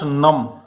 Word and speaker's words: numb: My fingers they goat नम, NUMB, B silent रहेगा.